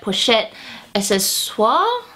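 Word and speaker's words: Pochette Accessoires: The next luxury favorite that I have is actually my Pochette Accesoires.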